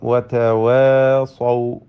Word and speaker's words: وتواصوا: അടുത്ത പദം വതവാസൗ, വതവാസൗ, ഇതിൽ സ്വാദിന് തഫ്ഖീം നൽകണം, പെരുപ്പിച്ച് ഉച്ചരിക്കണം.